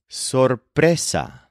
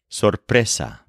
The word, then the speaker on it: sorpresa: wedding and then the word for surprise is Sessa spelled s o r p r e s a Sessa for example this meeting was a surprise and